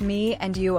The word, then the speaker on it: Me on You: That commitment led to the creation of Me on You, pronounced Me and You, a wine brand dedicated to celebrating Ian's life.